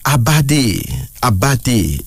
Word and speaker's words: Abadi: The first male name is Abadi. A-B-A-D-I, Abadi.